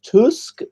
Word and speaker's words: Tusk: Donald Tusk as Peter tells us his name should be pronounced before and believers heard the things he